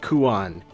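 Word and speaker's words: Quan: So, it's Kuina, Kuail, and Kuan, which, unsurprisingly, are similar to their Japanese names.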